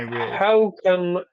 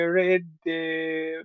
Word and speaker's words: rid: Say it again. How can I no, right, Rid, rid, rid, right, rid, rid. Eat it. That's a sound you eat.